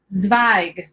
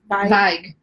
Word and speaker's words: Zweig: And you also say the Z at the beginning. Oh, Zweig. Oh, the W. See, we can't spell, Nikki. We don't even know. Zweig. That sounds right. Okay. Zweig. Oh, I like that. What were we doing? Zweig. We weren't even pronouncing. We took the Z right out of the equation. You're like, oh, W sounds like a V.